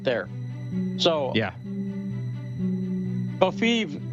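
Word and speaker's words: covfefe: Kofiv rhymes with Lviv. Sort of sounds like Kiev.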